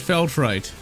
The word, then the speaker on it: Feltrite: I would be contrite if I didn't talk about that Feltrite. And you know what, ladies and gentlemen? This is actually a re-record. I just realized that contrite rhymes with Feltrite.